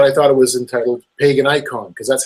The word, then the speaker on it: Paganicon: And when I went there, I thought it was entitled Paganicon, because that's how it's spelled, pagan and then I-C-O-N. So for me, that just made sense, pagan icon, and it would fit.